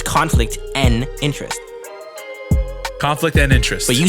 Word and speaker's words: Conflict N' Interest: you say like conflict it's just the letter n it's conflict and interest conflict and interest but